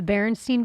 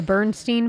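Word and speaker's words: Berenstain: bears you said though the barenstein Bears I think that might be the right way to say it right the as opposed to The Bernstein Bears right the sweet Jewish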